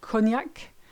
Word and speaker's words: cognac: GN, you know this one if you've ever had beef bourguignon, if you've ever had cognac, and if you've ever been to the montagne, which is mountain. So it's quite a light sound, N.